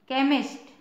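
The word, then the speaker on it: chemist: एम आई एस टी इसको क पढ़ेंगे केमिस्ट सी एच के बाद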